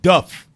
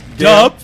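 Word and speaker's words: Dubh: Duff. Celt of dark complexion. Gale. Dub. Dark black. That's it. Dub is not pronounced dub. It's Duff. B-H is an F or V sound.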